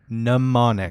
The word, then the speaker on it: mnemonic: Johnny manotic Mnemonic mononic mnemonic mnemonic the m is silent and your mama and